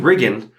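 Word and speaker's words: Riggan: And so you get, I don't want to say the main character's name wrong. Is it Regan or Regan? Regan, okay.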